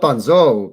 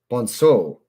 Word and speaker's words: Bonzo: Bonso. The name's Spanish. Oh. Spanish accent. Spanish accent. Not Bonzo. No, that's French. Fuck. Not Bonzo, pisshead. Bonso. Not Bonso, pisshead. Bonso. The name's Spanish.